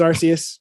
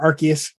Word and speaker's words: Arceus: Like I said, Pokemon Legends Arceus, been playing that, or Arceus, however you want to pronounce it. I've heard it both ways.